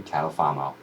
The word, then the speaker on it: Catalfamo: Partners in my insurance Endeavors please welcome catalfamo Hi how are you welcome thank you